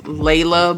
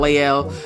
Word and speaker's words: Leila: It's Leila Mley, not Leel. So, let me make that correction now.